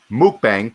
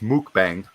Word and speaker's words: mukbang: just uh just some information on mukbang so mukbang pronounced mukbang mukbang sorry it translates to eating broadcast in